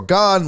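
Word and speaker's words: Gane: I'll give you my thoughts on what's next for Derek Lewis, Jose Aldo, Cyril Gahn, which I said Gain all last week. I had no idea. I said it wrong.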